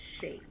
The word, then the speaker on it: Cshae: I The, mean, the C, the C and the S, it's silent, so it's Shay. It's pronounced Shay.